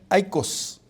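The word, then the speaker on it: οἶκος: Y hermanos, esta palabra eco significa hogar y se pronuncia aikos, eso, y significa hogar en el griego.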